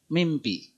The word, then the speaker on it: mimpi: alamiah itu berubah ya Jadi kalau saya nulis begini ya tulisan itu minpi pak ya tapi cenderung kita baca mimpi Ya seperti kita inginnya bacanya mimpi begitu karena pengaruh ya atau